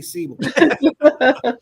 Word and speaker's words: Seibel: wrong I always tell the best best thing to remember with my last name is it rhymes with Bible right C A lot